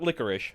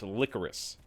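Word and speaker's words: Lycoris: It's not licorice, it's licorice recoil.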